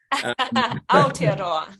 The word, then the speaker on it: Aotearoa: And having arrived in Aotearoa, am I pronouncing it right? I'm getting a nod. Aotearoa.